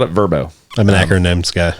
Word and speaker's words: VRBO: But apparently, if I'm remembering correctly, the commercial called it Verbo. I'm an acronyms guy. It's a VRBO in my I've mind.